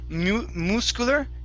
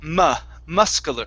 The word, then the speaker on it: muscular: Okay, instead of muscular, it's muscular, muscular, muscular.